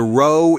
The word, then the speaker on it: row: The row in rowers rhymes with toe.